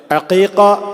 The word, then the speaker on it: അഖീഖ: അറിയപ്പെടുന്നത് ഞാനിത് സൂചിപ്പിക്കാൻ കാരണം പല ആളുകൾക്കും അതിൻറെ ഉച്ചാരണം പോലും പലപ്പോഴും അറിയാതെ അഖീഖ എന്നാണ് അതിനു പറയുക എന്നത് പോലും അറിയാതെ കുറെ ആളുകൾ